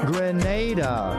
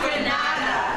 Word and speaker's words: Grenada: Grenada. Say it right. Grenada. That's right. Grenada. There we go. Say it right. It's not Granada.